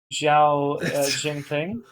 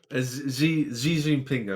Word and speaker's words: Xi Jinping: It's just apparently Diablo Immortal got banned in China due to the Weibo account making a post mocking Xiao Jinping. Xi Jinping, I believe it's Xi Jinping, is that how you say it?